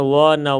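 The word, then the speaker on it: one: हमें कोई मतलब नहीं, इसका उच्चारण व न वन है, तो व से शुरू हो रहा है, ओ आ ई ए आई वो से नहीं हो रहा है, इसलिए इसके पहले ए लगेगा।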